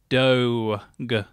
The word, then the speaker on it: Doge: official please hope so how is Doge pronounced doe go like vogue or rogue apparently that's that's where